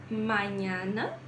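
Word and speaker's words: mañana: no alfabeto em espanhol ele equivale ao som do nosso NH tá então nós temos manhana suenho nines e tacanho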